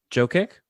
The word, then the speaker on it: Jokic: name oh uh joke joe kick okay good to know that's how my family it's wrong but that's how they say it where is that from